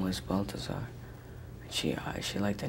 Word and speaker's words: Balthazar: Am I saying it right? Balthazar, yeah.